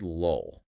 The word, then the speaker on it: lull: Say the word lull. The first L is a light L. You pronounce it at the front of your mouth, right behind your teeth. Right. But that final L is a dark L.